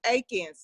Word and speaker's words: Atkins: And Jerry, we pronounce it Aikens, not Atkins.